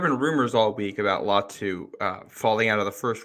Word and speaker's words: Latu: How's it pronounced, Matt? Correct me. Latu.